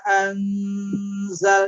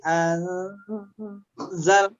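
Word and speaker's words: أنزل: Nun sukun atau tanwin ketemu dengan zai, maka bacaan nun sukunnya kita masukkan ke dalam zai. Jadi bacanya bima anzal. Jadi anzal. Jadi langsung nun sukunnya enggak jelas lagi.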